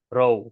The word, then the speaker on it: રહું: So last thing I'll point out is in Gujarati, we often, we don't pronounce the letter H. So in like rahu chu, it's spelled rahu, but it's more often than not pronounced ro.